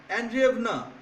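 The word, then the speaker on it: Андреевна: তারপর দেখো ইন 1862 he married Sophia অ্যান্ড্রিয়েভনা। Sophia অ্যান্ড্রিয়েভনা, এই উচ্চারণ রাশিয়ান প্রোনাউন্সিয়েশন তো এই ধরনের, ভয়ের উচ্চারণটা ওদের মধ্যে বেশি থাকে, হ্যাঁ, ভ।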